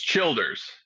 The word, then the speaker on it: Childers: with uh Tyler Childers is that how you pronounce his name CH it's Childers Childers uh passenger which who I'm familiar with